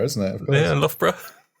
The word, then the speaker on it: Loughborough: Lobro. How do you pronounce it? Well, me? Yeah. Oh, Loughborough, isn't it? Of course. Yeah, Loughborough. Oh, so it's one of those where GH turns into an F.